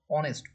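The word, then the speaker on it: honest: ঠিক আছে, কিন্তু যখন হচ্ছে অনেস্ট, ও কোথাও ও উচ্চারণ হচ্ছে অনেস্ট, অনেস্ট, এইচ ও এন এস টি, উচ্চারণ হচ্ছে অনেস্ট, তাই হচ্ছে এর সামনে অ্যান বসেছে।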